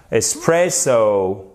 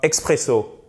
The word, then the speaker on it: espresso: C'est donc bien espresso. D'accord? Et ce n'est pas expresso.